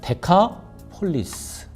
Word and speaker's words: 데카폴리스: 여기를 데가볼리 지방이라고 부릅니다 원래 데가 벌리라 발음 자체는 사실 헬라 오름은 데카폴리스 카는 열이랑 개라는 뜻이고